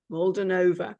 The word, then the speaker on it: Molduvanova: with now I'm probably gonna say your surname wrong so I'll let you say it please mold molden NOA right molden NOA who is based in